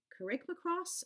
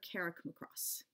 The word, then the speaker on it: Carrickmacross: What I'm gonna share with you today has two different ways to pronounce it, Carrickmacross or Carrickmacross.